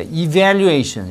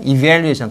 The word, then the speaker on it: evaluation: 여러분 F 아고 V f고 V 니가 아래입술 안쪽에 이렇게 다게 EV valuation 이렇게 여러분 발음을 신경 쓰지 않으면 영어를 되게 못 한다는 인상을 주고요 씨가 늘지 않아 그니까 evaluation 이렇게 evaluation 강조하면서 이렇게 a careful evaluation of